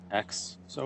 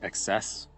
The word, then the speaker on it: XeSS: I think they pronounce it like XS. So if you just hear me saying XS, then that's basically what I mean. I could say XESS.